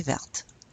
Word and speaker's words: verte: Yes, you add an E. You pronounce that T. Elle est verte.